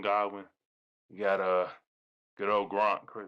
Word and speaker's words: Godwin: Godwin, that's how you say his name. Goodwin Godwin.